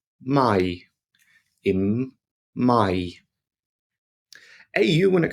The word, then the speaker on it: Mai: So AI together makes an I sound. I. Here we have in May, which is pronounced im Mai.